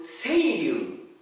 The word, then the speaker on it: 青柳: Today, let's practice kata aoyagi. Aoyagi, we write kanji like this. This is Japanese kanji aoyagi. But in other pronunciation, we call seiryu.